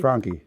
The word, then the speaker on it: Franchi: Frankie.